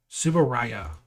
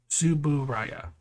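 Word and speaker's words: Tsuburaya: have you forgotten how to say the name subaraya suburaya uh the uh the production company that did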